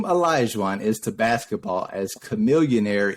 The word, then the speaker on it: Olajuwon: Olajuwon.